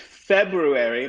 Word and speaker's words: February: and we delete it now the word february my favorite is different because in that one we're changing a consonant and so that one's a little bit of an outlier we do keep the ua february when we say it but we we change the consonant to a consonant yeah so that one's